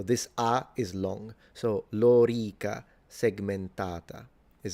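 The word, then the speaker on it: lorica segmentata: length, th this vowel, the o and the e are both long. So it's lora and then segmentata. So this ah is long. So lora segmentata is how you pronounce it.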